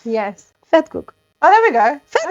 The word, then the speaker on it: vetkoek: Even though you spell it with a V, you pronounce it like with an F. Yes. Vetkoek.